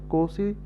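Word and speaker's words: Nkosi: N Kosi, N is silent, so Kosi Sikli, E Africa, and the black singing Die Stem.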